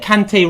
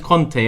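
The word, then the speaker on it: Kanté: They call Kante Conte on TV. How can you get Kante wrong? No wonder they're getting the Turkish names wrong. They get Kante as Conte, and they expect it to do Çalhanoğlu.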